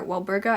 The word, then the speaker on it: Walburga: his mother and father, Walburga and Orion Black. It's really hard for me to say Walburga with a B because I am so used to her name being spelled with a P, but I will try my best.